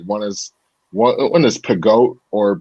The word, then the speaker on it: Peugeot: But it's I can't necessarily pronounce all of them. Like one is Pegoat or PEUGEOT.